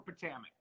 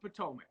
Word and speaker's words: Potomac: So I'm hyped for Potomac.